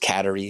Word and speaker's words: Kateri: uh CER teoa or as she was said should be pronounced katerie if you anyway but